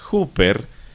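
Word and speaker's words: ὑπέρ: el Nuevo Testamento es una pequeña palabra griega que se pronuncia hooper que traducida del griego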